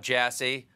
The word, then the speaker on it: Jassy: Now, I know nothing about Jassy other than his last name rhymes with sassy.